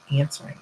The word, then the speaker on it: answering: out how to write answering for some reason I completely drew a blank on that like it is one of those words that has like a silent letter in it that we don't hear but it's definitely present